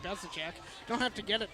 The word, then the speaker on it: Bezicek: Yeah, they've not been doing great with Bezicek, but to be fair, that's a really hard name to pronounce. And I will call you out. You used to call him Bezdizic.